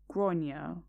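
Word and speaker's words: Gráinne: She asked what I meant, and I said, well, in Ireland they typically pronounce it, quote, Gronya.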